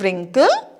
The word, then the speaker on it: wrinkle: So, because W is silent here.